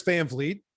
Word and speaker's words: Van Vliet: i love it but my name is chris fanfleet i thank you for pronouncing it correctly and i've worked my entire